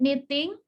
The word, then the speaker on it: knitting: What is it, knitting? Dibacanya ya. K-nya tidak dibaca, silent K.